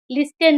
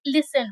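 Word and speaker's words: listen: एल आई एस टी ई एन यहां पे भी एस के बाद टी है। इसीलिए उस इसका उच्चारण लिसन नहीं लिसन होगा।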